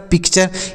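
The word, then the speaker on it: picture: क्या हो गया सर पिक्चर इसको पिक् टूरे नहीं पढ़ना है जैसे इसको बहुत सारे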